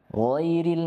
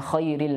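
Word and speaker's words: غَيْرِ: ghairil Nah di sini perhatikan huruf Gin jangan tertukar dengan K ya bukan Khairil magdubi alaihim karena artinya Khair ini artinya ee lebih baik ya Atau paling baik Adapun ghair artinya selain ya ini berbeda artinya giril magdubi magdubi kemudian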